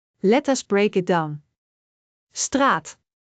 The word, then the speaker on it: straat: A is a long sound. Like in straat which means street. Let us break it down. Straat. Straat.